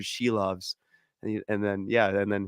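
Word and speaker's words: Šilovs: and I was like it's Archer sheaves and then yeah and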